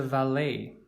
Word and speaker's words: valet: This person is a valet. You might be thinking that's a strange pronunciation, especially for a word to end in ET. And yes, this comes from French, so it is not